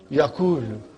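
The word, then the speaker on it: يَقُولُ: If I put a sukoon on waw and dhamma on Kaf. How will you pronounce it now? Yakulu. What will you say?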